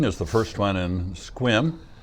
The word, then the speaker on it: Sequim: It's it looks like it should be Sequim, and we had a showing this last week that they hadn't discovered that yet. So it's pronounced Sequim, kind of. Forget the E. Yeah, scrunched together.